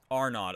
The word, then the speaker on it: Arnaud: Is it Arnaud? Is that supposed to be A or is it like four nod?